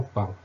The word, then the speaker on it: pas: Blanc, on a un C qui se ne prononce pas.